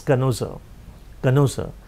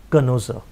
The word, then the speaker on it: connoisseur: s e you are the spelling is conversion but the pronunciation is canosa a collector of things